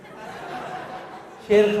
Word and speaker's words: शेर: श्री । My name is श्री । श्री ।